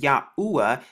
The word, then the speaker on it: Yahuwah: name actually looks today as you can see it's pronounced yahuwah this is the ancient